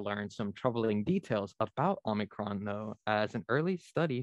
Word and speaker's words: Omicron: Yeah, I believe the correct Greek pronunciation, and I'm not Greek, so don't take my word for this entirely, is Omicron, but an acceptable is Omicron.